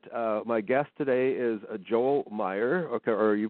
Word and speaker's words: Joel Mayer: And that uh my guest today is Joel Meyer. Okay. or you pronounce it mayor. Correct. Joel Mayor.